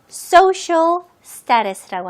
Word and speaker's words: social status: 자, 여기 CIA 부분을 SH 발음으로 하시면 돼요. social status. 오케이? 그리고 중간에 있는 T는 조금 약하게 거의 D처럼 들리게 한번 발음해 보세요. status가 아니고 status.